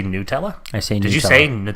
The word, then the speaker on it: Nutella: pet peeve for John please do not say Nutella it is called Nutella is there perhaps any